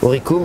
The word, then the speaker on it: Oricum: Oricum, oui. Pardon. Je prononce. Exactement. Oricum, on prononce à l'ancienne prononciation latine, c'est ou ça.